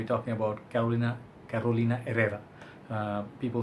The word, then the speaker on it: Herrera: talking about Carolina Carolina Herrera people say Carolina Herrera but I think proper way to say her name is arena so the H is silent or something like that